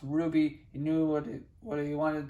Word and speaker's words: RWBY: He would have been initials pronounced Ruby.